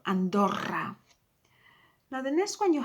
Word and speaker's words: Andorra: Now sometimes you come across as well two O's, so you double the O, you roll the O, Andorra.